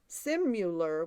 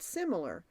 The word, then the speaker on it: similar: Simular with the U is an outdated word meaning one who simulates or counterfeits. It's a mispronunciation, actually, of the word similar. Now, when you like you